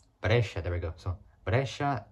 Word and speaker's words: Brescia: So it's Brescia. Brescia.